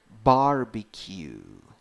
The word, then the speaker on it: barbecue: Now in the second syllable we have a small tiny I. I, I, I, I. It's like a mix of an E and an E. So it sounds like I, I. And finally we have Q, Q, Q. That's a long U.